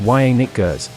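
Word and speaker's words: Janick Gers: band to this day yannick roberts pronounced y nick gers born january 27 1957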